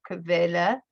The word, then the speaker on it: Quelle: Remember the QU sounds like a KV, so Quelle, Internetseite.